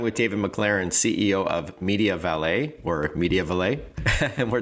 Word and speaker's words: MediaValet: And so, I've been saying Media Valle and you're saying Media Valle. Am I saying it wrong? No, you're saying exactly right.